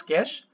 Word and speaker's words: cache: तो देख लेते हैं यहाँ पे कैसे pronounce as कैश memory is a special high speed memory that